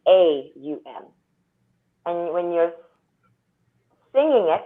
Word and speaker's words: Om: general I mean so most people think ohm is om now it's actually spoken as what's phonetically a um and when you're singing